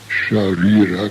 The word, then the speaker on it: sharira: The S with a diacritical mark is best described in this manner. Place the tongue against the teeth as though to pronounce the English word chair. Now move the tongue away from the teeth and pronounce the word share, and you will pronounce sharira correctly.